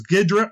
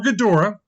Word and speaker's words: Ghidorah: talked about yet now this name is for perhaps two different way so I'll pronounce it both ways there's gidran or Ghidorah that way cover both bases the three-headed monster versus